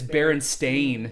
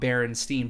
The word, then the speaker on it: Berenstain: yeah, but it's Berenstain. Berenstain. It's Berenstain, not Berenstein, but we call it Berenstein. Yeah. And when I grow up, I specifically remember it being spelt with a steen, not a stain.